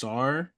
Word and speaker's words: Sarr: I mean, I feel like obviously everybody's talking about Alex Sarr is how you say his name.